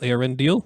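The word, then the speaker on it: Eärendil: the pronunciation of this aren deal is it deal or Dill deal it is deal Aaron deal it are in the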